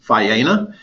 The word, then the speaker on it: Faena: This hotel's pronounced Faena. It is the sister resort of an Argentinian hotel by the same name, Faena.